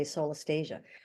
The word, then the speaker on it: solastalgia: It's pronounced differently by different people. I like to say solastalgia.